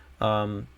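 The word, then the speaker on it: Abanikanda: Abenaconda, that's how you pronounce it.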